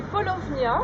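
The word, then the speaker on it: Paulownia: C'est polovnia. Ça s'écrit P A U P L O W N I A Polovnia.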